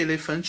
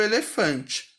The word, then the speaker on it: elefante: Já vou aproveitar para dizer que elefante é uma paroxítona. Sílaba tônica mais forte é a penúltima.